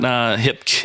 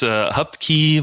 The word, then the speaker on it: Hupke: thing where it's like, it's not Hupke, it's not Hipke, it's Hupke, but yeah, it's fine.